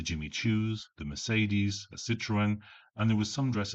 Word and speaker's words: Citroën: If Miss Athetherton had any understanding of French, then she wouldn't pronounce Citroen like the French word for lemon. Citron. Citroen and Citroron are pronounced in very different ways, but it wasn't images